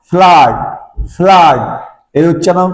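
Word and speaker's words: flood: এফ L double D ফ্লুড ফ্লুড ন এর উচ্চারণ ফ্লুড নয় ফ্লাড ফ্লাড এর উচ্চারণ ফ্লাড ফ্লাড এ জেড ইউ আরই এজ ইউর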